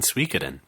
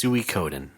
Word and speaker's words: Suikoden: I see a lot of people playing Suikoden. One and two. Are they also pronouncing it wrong? Yeah, probably. Yes. You know I'm what? sorry. You're right. I'm sorry. It's Suikoden.